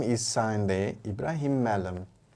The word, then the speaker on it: Mallum: mispronouncing his surname because i used to say malam and then one day said why do you say my name like that it's malam well a lot of